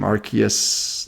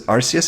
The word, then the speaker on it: Arceus: Arceus Legends?